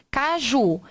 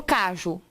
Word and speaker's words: caju: Caju. Então, quando eu não digo caju, eu digo caju. A sílaba tônica é a última?